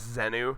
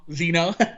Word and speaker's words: Zeno: If Zeno was here and you pronounced his name as Zenu, he would fucking kill you. He'd be like, never fucking say it like that ever again. Zeno.